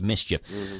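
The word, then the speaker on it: MSCHF: for backward bwd backward it's from the band Mischief spelled m-s-c-a CHF but pronounced Mischief uh they're the same companies selling those I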